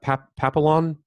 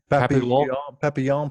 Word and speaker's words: Papillon: Papillon? Papillon, probably. If Papillon, it's like French butterfly, yeah.